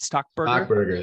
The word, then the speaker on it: Stockberger: talking to stockberg stock Burger did I pronounce that right stock Burger there you go you got it all right